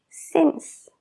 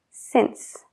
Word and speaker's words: since: de céntimo, centimeter, centímetro, since, desde. Todas estas palabras tienen una C y E, entonces la C se pronuncia como una S. Cent, centimeter, since.